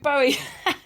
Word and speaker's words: Bowie: This is the one about David Bowie and Angie.